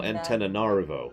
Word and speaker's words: Antananarivo: Antananarivo, I think? No, Antananarivo. There's another A in there.